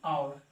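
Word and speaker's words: hour: देखिए ये बाद में सीखेंगे, ये एन आवर, इसको क्या पढ़ा जाता है आवर, औ से स्टार्ट होता है।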